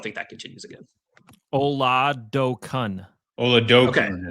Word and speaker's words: Oladokun: Oladokun is how we say it. Oladokun. My apologies to the Oladokun family. I just went. They said like Oladokun. That's what I'm seeing on the pronunciation thing. Yeah. Oladokun. Coon rhymes with soon.